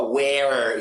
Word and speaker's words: where: Bom, na maioria dos lugares onde se fala inglês, na grande maioria esmagadora, você não vai falar where, e sim where. Esse E não é é, é E.